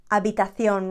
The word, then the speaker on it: habitación: Recoger la habitación or ordenar la habitación. Remember, the H is not there. We never pronounce it.